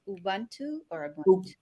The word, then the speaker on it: Ubuntu: on screen as well i learned how to say it's ubuntu ubuntu so for the longest time i'm reading it like you want to and how do you